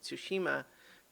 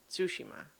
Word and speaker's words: Tsushima: i have recently discovered you're supposed to emphasize the first syllable not the second one so i've been saying tsushima but it's i guess it's tsushima anyway um i hope i'm